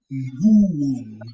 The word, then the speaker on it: nguo: The other one is nguo. Nguo. Nungo. Nguo, nguo, nguo. Nungo. Don't bring the letter N. Don't try to, don't struggle to bring the letter N in pronunciation. Just say nguo, nguo.